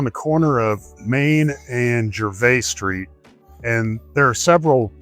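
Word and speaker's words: Gervais: And so when you look for Jer Street, you have to know how to spell it. It's G E R V A I S. It's French.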